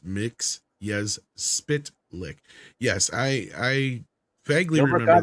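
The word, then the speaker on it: Mxyzptlk: Superman the animated series taught us that mits yes spit lick is pronounced mix yes spit lick yes I I vaguely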